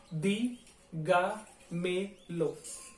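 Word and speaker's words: dígamelo: अब इसमें जो शब्दों का उच्चारण है वो पढ़ के देखिए, दी गा मे लो, ठीक है, दी गा मे लो, एक एक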